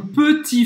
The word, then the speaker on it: petit: Ela não pronunciou o T no final, isso é corretíssimo. C'est mon petit frère. E ela também não pronunciou o E de petit, porque quando a gente fala rápido, é como se a gente cortasse esse E.